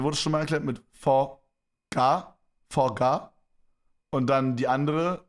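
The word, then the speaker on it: phở: But in reality, the word is actually pronounced pho, as in Ja.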